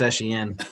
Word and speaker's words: Etienne: And It's then actually pronounced Etienne.